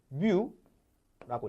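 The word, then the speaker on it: μ: 얘가 뭐냐면 얘를 뮤라고 읽어요.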